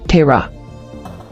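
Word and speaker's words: Terah: origin Hebrew Tera meaning delay or to wander pronunciation Terra Bible verse Genesis 11:24 ESV when theore had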